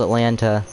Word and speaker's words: Atlanta: hampton but it's called atlanta i have to pronounce the t otherwise jaden's going to